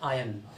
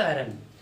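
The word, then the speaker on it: iron: Spelling रहती है, but pronunciation उसका होता है आयन नॉट आयरन।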